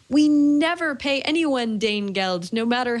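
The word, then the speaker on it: Danegeld: Rudyard Kipling poem about Dane gold Dane geld I believe is how you say it uh and the whole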